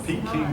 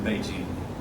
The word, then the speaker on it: Beijing: It's not just mispronunciation of it. It was we Westerners did not know the correct pronunciation. So it's always been Beijing. When we Westerners learned how to pronounce it, we started calling it Beijing just like they did.